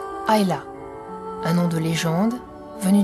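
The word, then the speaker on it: Islay: très loin de l'Irlande son nom se prononce hayla un nom de légende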